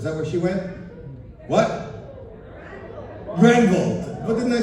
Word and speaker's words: Granville: Granville.